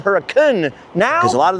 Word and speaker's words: Hurricane: So why is the town called Huracun now?